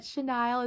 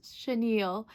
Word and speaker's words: chenille: like today years old when I learned that chenile is pronounced Chenille so thank you for correcting me on that um Chenille plushies if you're new here welcome I make